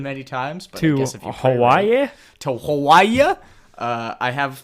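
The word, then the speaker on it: Hawaiʻi: job doesn't happen many times but guess if Hawaii to Hawai uh I have the the pronunciation written out um it's Haya haa is is how the natives say it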